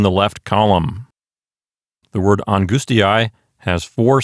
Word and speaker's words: angustiae: sound, in this case, a diphthong comprised of the vowels A and E. And that sounds like I. So draw another line between the I and the A, and our syllables are angustiae.